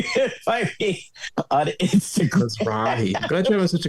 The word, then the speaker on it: Mizrahi: Mizrahi.